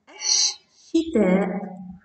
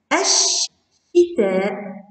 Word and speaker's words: الشتاء: كلمة شتاء إذا دخلت عليها ال تصبح الشتاء الشتاء، لا تنطق اللام وينطق الحرف الذي بعد اللام مشددة أي ينطق مرتين.